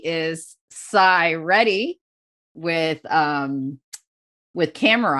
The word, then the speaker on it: Sai: my my name is Psy ready I will spell it out for you s-a-i and the reason I do it is because AI isn't my name you know so uh